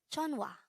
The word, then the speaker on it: 전화: This is pronounced as a two-syllable word. The first syllable is 전, second syllable is 와. Pronounce it with me.